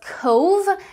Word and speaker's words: Cobh: i found out that bh is pronounced as v as in irish language so this tone is pronounced as cove as in drove for